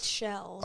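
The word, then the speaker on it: Sichelle: I think she did a decent job for what she could, but more importantly, How do you pronounce her name? Yue. No, the actress. Seychelles.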